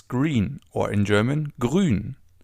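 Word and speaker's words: grün: Grun. As you already know, the oo with the two dots on top is pronounced oo as in grun.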